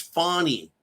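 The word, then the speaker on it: Fani: fat Fanny fat ass Fanny Fanny fat ass fat ass Fanny Willis remember how she said it's fonny sorry I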